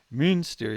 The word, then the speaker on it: Münster: Or sorry, that's the German pronunciation. Munster is the Irish one. Münster is the place in Germany.